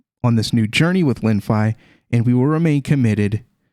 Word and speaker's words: Lenfi: past as well from here on out it's linfai and we're going to be covering this and